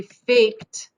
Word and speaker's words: faked: is an unvoiced consonant so f-a-k-e ends in an unvoiced consonant so the e-d is going to be pronounced on the end okay so it's going to be faked big faked like cat so the e d is going to be f a k t faked okay so those are